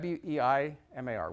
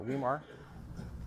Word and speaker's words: Weimar: So that's really my life, is running Weimar Institute, keeping it financially solvent and helping it grow.